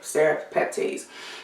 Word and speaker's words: serrapeptase: want to talk about is serrapeptase or seropeptides i believe they pronounce it serif peptides now i had spraying